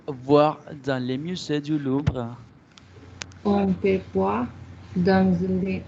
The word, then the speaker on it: Louvre: No me pronuncie la R porque acá no tenemos esto, Nicole. Le musée du Louvre. Así.